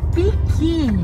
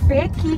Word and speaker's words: pequi: Piqui! Ela chama de piqui. Porque é pequi que se escreve, então é pequi. Mas para os nativos, forma correta da pronúncia... É piqui.